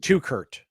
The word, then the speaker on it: Teuchert: It's pronounced Tukert. So it's spelled Teuchert.